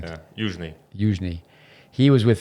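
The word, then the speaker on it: Youzhny: Michael Yuzhny, what's the Russian pronunciation? Yeah, Yuzhny.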